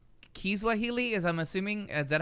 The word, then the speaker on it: Kiswahili: So Amina is telling us that it's not Swahili, it's Kiswahili, as I'm assuming.